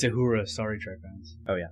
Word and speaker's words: Uhura: And it's Uhura, Star Trek fans.